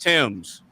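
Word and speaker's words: Thames: Every every American every American I've ever met calls it either the tames or thes, right? No, it's it's it's pronounced Tims.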